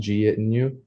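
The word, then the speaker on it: jeitinho: afterwards lastly they have a Portuguese term um pronounced git in you um the basic definition of this is just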